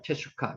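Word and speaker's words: תשוקה: 테슈카. 여기서는 평이 변해서 테슈카테크. 너는 남편을 원하다는 뜻입니다. 테슈카. 테슈카흐라고도 하는데 흐가 발음이 거의 안 나기 때문에 테슈카라고 발음하면 될 것 같습니다.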